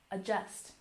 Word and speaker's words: adjust: And adjust. Emphasize the second syllable. Adjust, adjust.